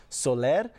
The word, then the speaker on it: Soler: And if you notice the pronunciation of her middle name, Soler, her father actually began calling her family the Solar family to try and assimilate